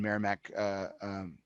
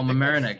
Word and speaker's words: Mamaroneck: Doc James Cigar Lounge in Merrimack, New York. No, that's not right. I'm mispronouncing that. The New York place. Merrimack? Oh, Mamaroneck. It's Mamaroneck, yeah. Mamaroneck.